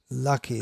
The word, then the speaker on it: Lakshmi: Yeah, the word is there in English, lucky. That's the Bengali pronunciation of Lakshmi.